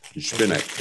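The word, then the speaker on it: Zbyněk: to pronounce it, but I've asked him how to pronounce it. And what you're hearing me say is a rough approximation of what he said. So, Spinek, yeah. So the Z is actually sounded.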